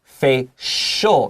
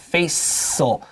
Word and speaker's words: facial: When we make it an adjective, it becomes facial, not facial. So write an SH above CI.